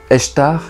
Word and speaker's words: Ishtar: L'œuf pourrait correspondre à la naissance de la déesse sumérienne Ishtar, qui serait née donc d'un œuf qui flottait sur l'eau. Ishtar, qu'on prononce aussi Eshtar, et qui aurait peut-être